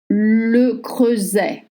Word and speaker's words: Le Creuset: of French order une bado unrier une éviant and then weing brand le creuset le creuset if you want to buy any cook le creuset not leet Le creusing butter and pronounce.